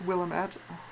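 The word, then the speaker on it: Willamette: willamet willamet I still I still I still pronounce it Willet in my head like it's a tiny Willam defo it's Willam at I thought that was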